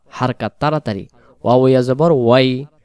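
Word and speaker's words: حركات: ছোটবেলায় আমরা পড়ছিলাম না, জেরে জবর পেশকে হরকত বলা হয়, হরকতের উচ্চারণ তাড়াতাড়ি পড়তে হয়। আসলে হরকত না, হারকাত বলতে হয়।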